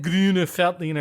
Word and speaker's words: Grüner Veltliner: okay we have had greener feltina in the past wait is are we gonna make people mad by doing that by pronouncing it correctly with the correct answer I figure if you're a German speaker or you're from Austria you will appreciate that we are trying to pronounce it right right and we're only